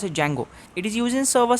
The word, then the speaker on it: Django: is used in Django D is silent so it is pronounced a Django it is used in